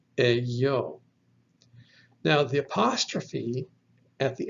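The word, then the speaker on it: ἐγώ: The next word is epsilon, gamma, omega, pronounced eyo.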